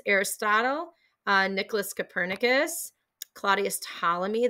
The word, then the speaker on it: Ptolemy: uh nicolas copernicus claudius ptolemy the p is silent galileo galilei and johannes